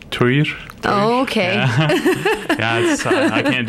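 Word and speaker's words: Týr: Oh, I always said Tyr too, but when I got over there, I tried to say it like I heard people saying it in the Faroese, which is like Tyr.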